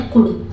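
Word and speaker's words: could: कुड, यहाँ पे L silent रहता है तो इसको पढ़ते हैं कुड। ये कुल्ड नहीं पढ़ा जाता है, इसको पढ़ा जाता है कुड।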